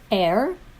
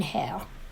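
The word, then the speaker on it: heir: air is wrong because air the person who inherits air h-e-i-r starts with a silent h an h that's pronounced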